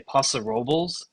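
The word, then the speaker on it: Paso Robles: we hit U as as the locals say posa Robel which I don't know how they get away with that pronunciation but they do it's posa roblas as far as I'm concerned uh what else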